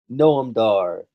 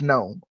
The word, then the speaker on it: Noam: Jack Gallagher, Neville, Noam Dar, Rich Swann, TJ. No, Gnome. Sorry, no, it's Gnome.